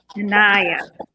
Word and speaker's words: Inaya: Inaya.